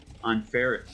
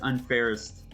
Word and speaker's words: Unfairest: I I think I think Essie is saying that we're pronouncing unfair uh un unfair. He says unfairest.